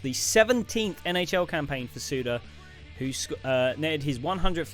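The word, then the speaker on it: Suter: Madison's Wisconsin we have Ryan suda or Sutter that's sudo it's only one one t Ryan suda look at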